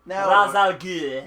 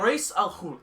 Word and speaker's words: Ra's al Ghul: And Brent and John were arguing for at least half an hour about the proper pronunciation. Thank you. Of Ra's al Ghul.